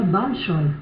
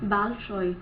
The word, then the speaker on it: Bolshoi: Eu aprendi com uma professora de russo que se fala Bolshoi. Bolshoi. Porque, na verdade, o O tem som de A em algumas determinadas palavras.